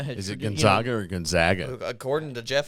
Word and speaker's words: Gonzaga: of people are picking they pronounced all three syllables in Gonzaga dude well Gonzaga has is it Gonzaga or Gonzaga according to Jeff it's